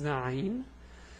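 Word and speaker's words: عين: So this is Ayn. The pronunciation is A, U, A. This is fast, let's go slow.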